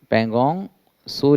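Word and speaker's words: Pangong Tso: ये देखिए पैंगोंग लेक का, पैंगोंग सो लेक टी साइलेंट रहता है, इसका व्यू देखिए, बहुत ही खूबसूरत है, एक बार ज़रूर जाइएगा लद्दाख में।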